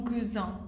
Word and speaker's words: cousin: cousin, como lo hiciste, tienen que pronunciar muy bien la Z. Porque si dicen mon cousin, ya significa como mi almohada. Así, mon cousin, mi primo, mon cousin, mi almohada, ma cousine, mi prima.